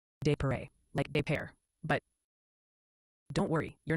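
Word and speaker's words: Des Peres: It's called a desparez. Oh, honey. It's actually pronounced de like pair.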